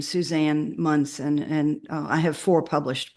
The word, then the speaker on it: Munson: like to add anything well my name is pronounced mson and um if anyone wants to look my books up on uh or Barnes & Noble uh just look up my name Suzanne mson and I have four published books up there